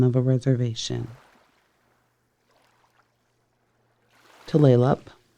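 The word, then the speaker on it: Tulalip: It is a name of a place of a bay and since 1855 the name of a reservation tleup. Tleup the name is mispronounced by so many people but tleup is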